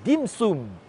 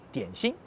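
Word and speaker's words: 點心: Dim sum est la prononciation en cantonais du mot tian xin, tian, une goutte, xin, le cœur.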